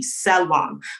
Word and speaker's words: Selam: pronounced my name would pronounce it as it was supposed to be selam but the shame the